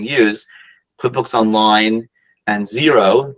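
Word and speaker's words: Xero: quip books online and zero zero spelled with an X like x-ray x e r o those are the two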